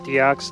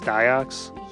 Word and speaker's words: Diox: we've got diox yeah which by the way not deox diox yeah we've been saying it wrong this whole time which is